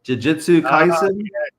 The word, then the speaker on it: Jujutsu Kaisen: Jujutsu Kaisen. Jujutsu Kaisen.